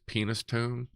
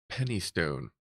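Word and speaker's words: Penistone: the fact that it's penis tone there CRA no it's pronounced Penny Stone no it's penis ton just just tons of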